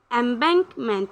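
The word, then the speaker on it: embankment: এমব্যাঙ্কমেন্ট একটু ভেঙে ভেঙে পড়লে উচ্চারণটা ঠিকভাবে আসে।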